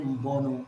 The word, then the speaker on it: Mbonu: Mbonu. You did pretty good on the pronunciation, but it's actually Mbonu, so it's Mbonu.